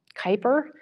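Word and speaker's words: Kuiper: Amazon is bringing on a new project it's pronounced um Kyper but it's pronounced it's spelled Ki p r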